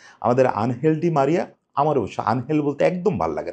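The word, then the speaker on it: Ángel: আমার অবশ্য আনহেল বলতে একদম ভালো লাগে না। যতই স্প্যানিশ উচ্চারণে আনহেল হোক আমি এঞ্জেল বলতে পছন্দ করি।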